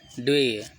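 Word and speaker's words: duvet: अगला है ट्वे, फिर टी साइलेंट हो जाता है, ड्वे, TUVET, रों से बनी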